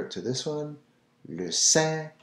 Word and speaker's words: Saint: Saint Bernard, well, here in French, le Saint. So you're not pronouncing the T. Anytime you'll see Saint in French, it's always Saint. The T is silent.